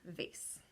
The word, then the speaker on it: vase: talking about silent yes it is the silent e at the end and this is what Joslyn got the a s e vase okay ready so my